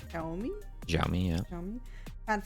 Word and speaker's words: Xiaomi: That's pronounced Xiaomi.